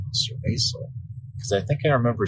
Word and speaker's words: cerveza: I was just like, cerveza. Because I think I remember seeing the word, on certain Mexican beers back in the U.S. But honestly, I thought it was like a hard C.